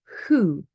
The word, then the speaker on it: who: But the H is silent, and we pronounce, sorry, the W is silent and we pronounce the H when it's O. So who, whose, whole.